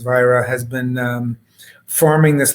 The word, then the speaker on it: Vajra: and better uh the vira family's been uh and that's v-a-j-r-a but pronounced vira has been um forming